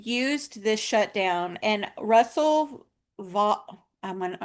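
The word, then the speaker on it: Vought: Um, and so they've used this shutdown and Russell Va I'm not sure how you say his name. It's it's actually, oddly enough, pronounced vote vote.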